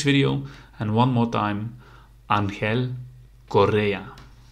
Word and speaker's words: Ángel Correa: about that pronunciation but it's Korea so you make the r rolling R of course Angel Di Maria Angel Correa okay guys see you in the next video and one more time Angel Correa